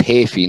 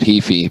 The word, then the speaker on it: Heafy: Apparently it's pronounced Hafey, not Heafy, but anyway.